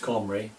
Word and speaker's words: Cymru: Later, around 650 BC, descendants of King Omri, king of Samaria, in Celtic Cymru is still pronounced Comri, they came as farmers,